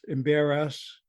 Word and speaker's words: Embarrass: not an embarrass, but Embarrass.